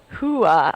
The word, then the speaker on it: hooah: Hooah. Oh, that's pronounced hooah. So where's the H at the front then?